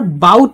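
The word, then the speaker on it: bowed: আলাদাভাবে উচ্চারণটা আলাদা করছি অর্থ আলাদা করছি বাট বানানটা আছে এইখানে যেটা হয় যে the Hunter বাউড টু the queen holding his বো এখানে একটু খেয়াল করেন এখানে কিন্তু বোর্ড হবে না কিন্তু বাউড হবে বাউ করতেছে মানে সে কুর্নিশ করতেছে কিভাবে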